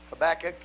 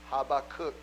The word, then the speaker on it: Habakkuk: Habakkuk in the word of the Lord we pronounce it Habakkuk but the Jewish Hebrew pronunciation is Habakkuk how about cook how about kook and I'll just stay with